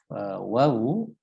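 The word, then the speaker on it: واو: Sehingga ini mudah sebetulnya, ya, tetapi kebiasaan kita mungkin akan tidak menjadi sebuah keutamaan, ya, ketika ternyata waw itu harus diucapkan dengan memonyongkan bibir, baik ketika fathah, ketika kasroh, ya.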